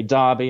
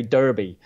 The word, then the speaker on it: Derby: The Brits say Derby, I know the Americans say Derby.